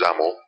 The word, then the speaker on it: XAML: same technique we're using X AML pronounced zaml to lay out the